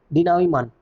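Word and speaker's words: denouement: अगला वर्ड है हमारे पास डिनावीमान। डिनावीमान का मतलब क्या होता है? ध्यान रखना, ये टी वाला साउंड प्रोनाउंस नहीं करते।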